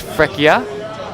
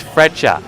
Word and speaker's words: Freccia: now it's not pronounced freia okay so stop saying freia it's freter all right it's like the word Fletching which is to do with archery uh Fletching yeah uh